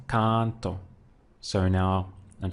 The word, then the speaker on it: canto: same thing would be with canto I sing here we have again two syllables con don't so again I pushed down on the one before last canto so now I'm saying